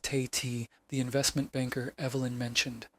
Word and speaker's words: Tate: First up was her fiancé, Roland Tate, pronounced Tay-T, the investment banker Evelyn mentioned.